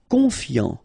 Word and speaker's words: confiant: Confiant, final T not pronounced, so I-A-N, yan, fiant, confiant.